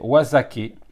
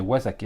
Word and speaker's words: Wazake: cela, un saké français, Wazake. Wazake, parce que l'autre jour, quand j'ai fait ma présentation, je vous ai dit Wazak, mais en fait c'est Wazake, ça se prononce Wazake en japonais.